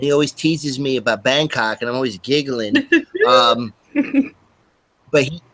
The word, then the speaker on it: Bangkok: But no, it's pronounced like this. Bangkok.